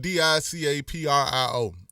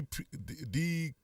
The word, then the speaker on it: DiCaprio: This again, this is uh damn L dialogue the it's spelled D I C A P R I O. You know what I'm saying? Uh, decree decaprio.